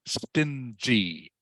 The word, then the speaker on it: stingy: But the word the word is pronounced stingy. Stingy. Okay. I know it looks like sting.